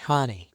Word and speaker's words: Hahne: It's like Connie with an H. Hanie.